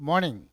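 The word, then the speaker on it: morning: सुना मैंने क्या कहा I said good मॉर्निंग I didn't pronounce the sound of ऑफ आर आर नहीं बोला मैंने मैंने क्या कहा मॉर्निंग here are is silent क्या है बच्चों silent why because it इज फॉललोड बाय अ कसोनेंट इसके बाद क्या है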